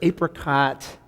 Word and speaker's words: apricot: They were like a multi-grain, wheat flour, apricot bread that tasted both sort of ancient and also healthy and also delicious because of the apricot and sweet.